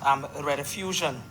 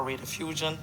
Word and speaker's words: Rediffusion: Some people remember Rediffusion, or Radiofusion, depending on how you want to pronounce it, which would have been around since the mid to early 1930s.